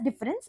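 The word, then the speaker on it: différance: it is pronounced as difference there is no difference between how we pronounce difference and difference I'm just pronouncing it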